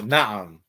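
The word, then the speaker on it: نعم: Na'am.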